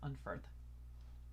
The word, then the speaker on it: Unferth: Oh, apparently it's originally supposed to be pronounced Unferth with a F instead of just regular TH. I mean, F is kind of like a mix of D and TH, like Unferth.